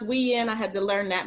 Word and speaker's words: Uyen: some great interviewing yes my name is pronounced Wien I had to learn